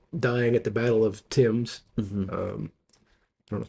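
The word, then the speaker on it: Thames: at the Battle of Tims. Um, I don't know if they pronounce it ths in Canada or not. I don't know either. I think it's Tim's River just like it would be in London.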